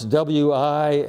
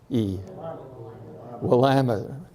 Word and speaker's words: Willamette: How do you pronounce W-I-L-L-A-M-E-T-T-E? Willamette.